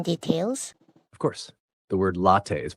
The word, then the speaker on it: latte: It's close, but the pronunciation should be latte with a short te sound. So latte sounds like latte. The final te should be soft.